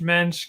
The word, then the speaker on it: Moench: for people to just think of the yish mench because helps people remember it better helps people pronounce it correctly it's a very hard name